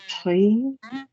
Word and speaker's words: prise: La décision prise. Pris or pronunciation pris.